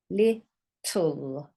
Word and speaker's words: little: So we've got it, double T, and you've got this on the end. Sounds like this. U and an L. Little.